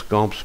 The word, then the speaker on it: Camps: Quand la source est un petit village du centre Var, se prononce Camps par les gens de la région.